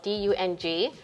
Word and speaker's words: Dung: english language it's spelled d-u-n-g and if you pronounce the vietnamese it's yom but we say in english this is dung so when i got